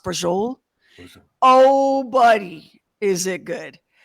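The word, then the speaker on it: braciole: c i o l e it looks like brachii yeah but it's pronounced Bol oh buddy is it good the the migon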